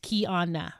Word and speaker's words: Kiana: And I say that to say that, as I mentioned at the top of this show, my name is Kiana, and that's pronounced Kiana, right?